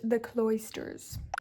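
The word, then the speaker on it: The Cloisters: our cbook the AA book helped me is pronounced the cloysters okay so welcome to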